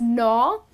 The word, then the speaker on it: gnaw: g is silent you just end up pronouncing it as no and what it means